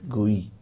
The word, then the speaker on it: GUI: You may pronounce it as GUI, G-U-I, graphical user interface.